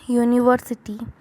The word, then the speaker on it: university: Some words start with a vowel letter but begin with a consonant sound, so we have to use a before these words too।